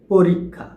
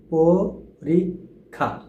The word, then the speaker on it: পরীক্ষা: আর এই পরীক্ষা শব্দটির উচ্চারণ হবে পরিষা। পরীক্ষা পরীক্ষা পরীক্ষা একসাথে যদি আমরা উচ্চারণ করি পরীক্ষা তো আশা